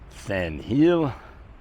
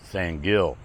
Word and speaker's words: San Gil: Olaf from San Hill Colombia you guys might pronounce it San Gill but at any rate